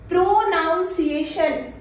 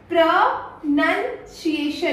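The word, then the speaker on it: pronunciation: अगला वर्ड है हमारा प्रोनाउंसिएशन, यही बोलते हो? प्रोनाउंसिएशन? नहीं, इसे हम लोग बोलते हैं प्रोनंसिएशन।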